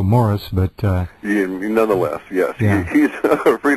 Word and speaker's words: Maurice: He pronounces it, as we both know, Morris, but nonetheless, yes, he's free to pronounce it any way he wants.